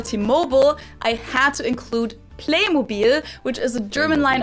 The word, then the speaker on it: Playmobil: did it with t-mobile they kept the german pronunciation of it for the american market too in the us commercials they call it playmobil as well even though in everyday life i've also heard americans pronounce it as playmobil which sounds very different and yeah i think